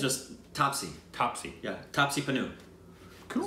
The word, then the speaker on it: Taapsee: Someone told me that I pronounced it right. Bachchan. Taapsee. Yeah. Is that Taapsee? I think it's just Taapsee.